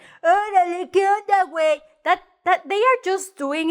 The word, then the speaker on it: güey: The diéresis, the two dots on top of the U, you say, oh, I have to pronounce the U, right? So you say, güey, no, gay, güey, see, güey.